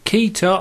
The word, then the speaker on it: Keter: hello again this is a keytar I think that's how you say it rolling workshop from B